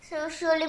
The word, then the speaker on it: should: Could. Should. L is silent in both.